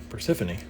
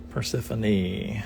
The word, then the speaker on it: Persephone: O vowel on top Persephone so the E is pronounced so we'll do that